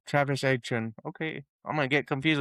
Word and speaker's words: Etienne: It's pronounced A-Chan. Travis Etienne.